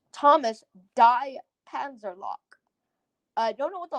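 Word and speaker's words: Panzerlok: is Panzer, and then that last bit is LOK. Lock. Panzer lock.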